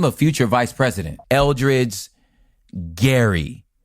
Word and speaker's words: Gerry: Even though Jerry's name is pronounced Gary, well, we say it like Jerry.